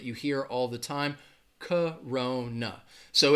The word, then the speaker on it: Corona: hear all the time Corona so it has three syllables but the first and the third syllable are going to have that schwa that sound alright so when you